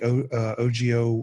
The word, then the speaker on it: Ogio: It might be a little big depending on how big you want to go, but check out the Ogio Renegade.